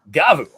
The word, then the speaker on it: Gavv: a video out because now we know that the pronunciation is gavu so right idiot anymore